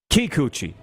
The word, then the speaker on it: Kikuchi: should learn to say his name you say kikuchi bingo the sports update this sports update for